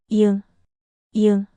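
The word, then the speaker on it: 이응: It has no sound at the beginning of a syllable, it's a placeholder. At the end of a syllable, it sounds like ing, like in sing.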